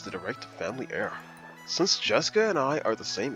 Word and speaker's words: Jessica: your own game this headstrong girl's name is tree Ricefield man and Christmas tree she was born under the same unlucky Star as me sharing the same kind of weird name anyway that is pronounced as Jessica she's dad's older brother's